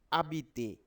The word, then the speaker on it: habiter: So when you pronounce this letter, it will be silent. Okay. So H for habiter.